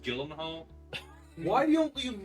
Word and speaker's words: Gyllenhaal: pronounced Gyllenhaal.